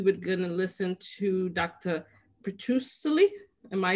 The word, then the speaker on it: Petrucelli: of hopefully we would gonna listen to dr petrussily am i saying it correctly or i'm butchering your name you're muted sorry john sorry i said you're very close actually it's petrucelli patracelli thank you um and you know he'll